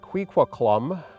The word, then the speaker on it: kʷikʷəƛ̓əm: Traditionally, it used to be pronounced Kwikwetlem.